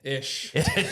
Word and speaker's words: Eish: And we have Aaron Eish. Ish. Rhymes with fish.